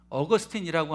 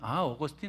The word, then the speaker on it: 어거스틴: 아우구스티누스 그러면 여러분 좀 생소하실 텐데 어거스틴이라고 하면 어거스틴 많이 들어보셨을 것입니다. 똑같은 이름인데 어거스틴은 영어식 발음이고 이 아우구스티누스는 이제 그리스어 헬라식 이렇게 표현입니다.